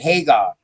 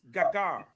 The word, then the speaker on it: Hagar: This is why I said that, you know, about Sarah and Hagar. I'm up on Sarah. You know what I mean? I'm up on Gagar. Right? It's Gagar.